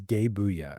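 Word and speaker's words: Gae Bolg: Oh, cuz the the way it's supposed to be pronounced cuz I did my research is is gay booya, right?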